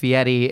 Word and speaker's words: Fieri: So it it is very much pronounced Fiieti.